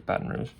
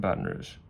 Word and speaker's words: Baton Rouge: And if I'm mispronouncing that, those Louisianans, please correct me, but I'm pretty sure it's Baton Rouge.